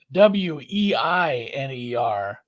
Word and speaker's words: Weiner: It is WEINER. We say Weiner because that's how it's pronounced, guys.